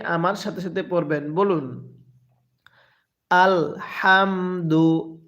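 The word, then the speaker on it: الحمد: সাথে সাথে পড়বেন বলুন আলহামদু হাটা উচ্চারণের সময় মুখের মধ্যে হালকা বাতাস বের করবেন পড়ুন আলহামদু হ্যাঁ এরপরে লিল্লাহি এরপরে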